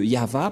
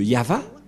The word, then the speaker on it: Yahvah: le nom de de yava et la prononciation de y h V selon les épres x c'est yava et personne ne peut